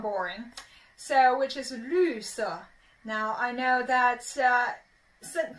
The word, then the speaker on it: 绿色: Now this pronunciation can be a little bit tricky. Let's work on it. So make sure your tongue go stick out a little bit, and your mouth is like a little funnel.